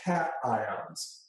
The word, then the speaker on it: cation: They're called cations.